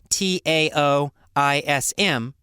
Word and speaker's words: Taoism: logic about it so it's spelled with the t but pronounced as a d i don't know why